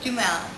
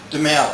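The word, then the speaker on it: Duhamel: Dumel. Dumel. Dumel.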